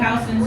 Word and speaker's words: Houston: Phi for the financial district, and Soho, south of Houston Street. And I know in Texas you say Houston, but I grew up in a house, not a use.